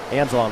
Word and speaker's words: Anzalone: I was about to say, going over pronunciations with the Omaha coaching staff, I incorrectly assumed to be Anzalone. He's like, no. Nope. I wrote down my pronunciation correctly, it's Anzalon.